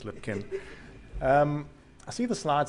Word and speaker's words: Lipkin: So I'm Steve Lipkin, for those of you, and it is pronounced Lipkin. You can say Lipchin if you want to, really. But officially it is Lipkin.